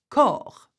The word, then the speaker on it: corps: Please note that when a word ends with an S, the S is usually not pronounced. So let's have a look at these words. Corps, which is a body. See, you've got an S, but we do not pronounce this.